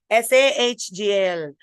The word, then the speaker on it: Sahgal: Her name, it should be spelled with Sahgal. Sahgal.